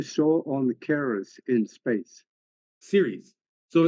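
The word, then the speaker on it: Ceres: on Caris in space Series so it's c r s is pronounced series like television series oh okay so that's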